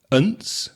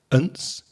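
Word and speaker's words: -ance: Then there's ance, unce. Again, that weak vowel sound there, the schwa it's called, the unce.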